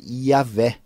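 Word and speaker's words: Yahweh: Rei vaso Rei yh a questão que nós perdemos a pronúncia desse nome a pronúncia desse nome segundos melhores estudiosos da linguística da fisiologia antiga provavelmente era yaveh Royal e é uma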